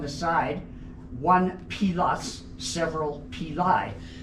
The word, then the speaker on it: pili: It's pronounced pili because I took 3 years of Latin with Mrs. Smith. And if you pronounced your eyes as an I, you got a steel-edged ruler on the knuckle. In Latin, the I's are pronounced as E's. And there's no soft sounds in Latin, so it's always hard, and it's always with an I.